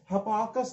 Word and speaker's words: Hipparchus: तो trigonometric ratio table सबसे पहले हिपार्कस नाम के व्यक्ति ने, HIPPARCHUS, इसकी स्पेलिंग थोड़ी अलग है लेकिन प्रोनाउंसिएट थोड़ा अलग किया जाता है, इस व्यक्ति ने बनाई थी, है ना।